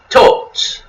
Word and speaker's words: Thoth: However, the name is usually pronounced with a long O. For instance, Thoth is pronounced as Tot, kind of like an O.